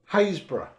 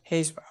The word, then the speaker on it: Haysborough: You don't pronounce the P at all. Oh, It's Haysborough. Haysborough.